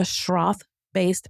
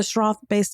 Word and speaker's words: Schroth: We started learning more about the Schroth-based method.